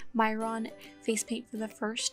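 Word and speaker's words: Mehron: me a couple dabs i did use myron i believe is how you pronounce myron face paint for the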